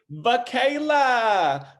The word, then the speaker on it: Vacala: the one the only vacayla girl did i say your last name right michaela that's how you say it yes well missy thank you